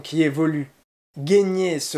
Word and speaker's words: gagner: si ajoute une question de prononciation qui évolue gagner se prononce gagner mais peut s'écrire avec une variante